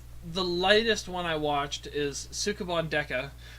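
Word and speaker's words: スケバン刑事: Anyways, so the latest one I watched is Sukeban Deka, or pronounced properly, as Clayton likes to mock, Skabon Deka.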